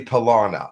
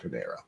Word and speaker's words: Palana: It's actually Palana. I'm sorry, not Panera. Palana. There are different pronunciations within the alien cultures, but Palana would be the human pronunciation.